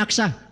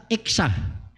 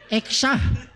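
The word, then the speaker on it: Achsah: Pero kani in English, malibog man ta, ang sakto nga pronounce ani, di man ni Aksa, Iksa. Iksa mo na siya, ek, oh, tot ek, oh, kanay ka sound? Heart ek, oh. Eksa. Sa ato pa ang Eksa, Hebrew name.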